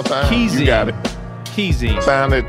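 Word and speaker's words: Kheyzine: Keezine. Sound it out phonetically.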